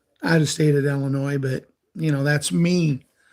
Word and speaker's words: Illinois: get knocked around enough the S is silent it's Illinois or you can do it like we do ill Ina they play their first